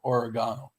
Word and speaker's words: oregano: don't think he's British the British all the British people pronounce it that way origano do you like did